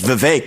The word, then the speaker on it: Vivek: I say, my name's Vivek. It rhymes with cake.